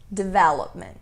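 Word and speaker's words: development: de velament dever lockman a pronúncia ideal seria de vela com a ênfase a parte tônica né a sílaba tônica na segunda sílaba e essa daqui como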